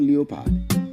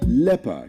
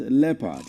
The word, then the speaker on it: leopard: It's not leopard. The word is leopard. It is pronounced leopard, not leopard. The L-E-O is pronounced as le, not Leo.